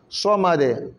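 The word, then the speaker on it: صمد: So, le so est très important. Pas ça. Samad.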